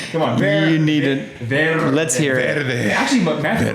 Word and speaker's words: Verde: Verde. Let's hear it. Actually, Matthew McConaughey pronounces it so well. Really? He rolls that R? Oh yeah. This guy over here is rolling his R's.